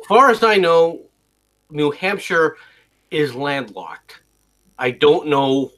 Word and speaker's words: Hampshire: Or is it Shire? Which way do you pronounce that, MC? New Hampshire. So it's Shire. Sheer. New I thought- Hampshire. Sure. It's just sure.